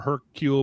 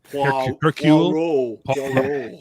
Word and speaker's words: Hercule: Sherlock Holmes or a Hercule Poirot type detective. That is not how you pronounce that name. Hercule.